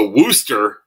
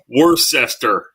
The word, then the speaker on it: Worcester: Worcester. It sounds like something like incester. Worcester.